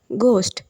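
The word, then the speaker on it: ghost: அப்படின்னு அர்த்தம் next word கோஸ்ட் இப்ப இந்த வேர்ட்ல பார்த்தீங்கன்னா ஹெச் வந்து சென்டர்ல வருது ஜி ஹெச் ஓ எஸ்டி அப்படின்னு வருது அப்ப இந்த ஹச் ஓட சவுண்ட் வந்து சைலெண்ட் ஆயிடும் கோஸ்ட் கோஸ்ட் அப்படித்தான் சொல்லணும் கோஸ்ட்னா பேய்ன்னு அர்த்தம் நெக்ஸ்ட்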